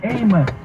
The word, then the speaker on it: Amos: icon Reverend Amos Brown note how I correctly pronounce the man's name Amos because anyone familiar with the man or who has read the Bible knows how to pronounce Amos clearly Sean Hannity is